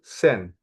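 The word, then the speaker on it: zehn: 10 in Dutch is sen. Okay, sen. Sen. Okay, look at sen. In Dutch, Z is S.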